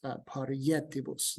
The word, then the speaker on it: parietibus: Haerent parietibus, or sorry, let me rephrase that. It's parietibus. This I is going to be pronounced consonantally so that you can still get the syntactilic hexameter.